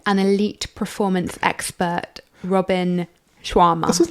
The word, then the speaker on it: Sharma: Robin Sharma. What's I called him Robin Shawarma, but that's a kebab.